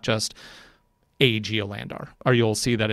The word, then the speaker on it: Geolandar: of the geo landers i'm not sure how to pronounce it because there's an extra a in there geolandar i think it's just geolander there is a more